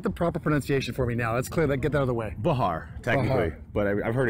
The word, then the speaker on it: Behar: Behar, technically. Behar. But I've heard it pronounced differently from other people, too.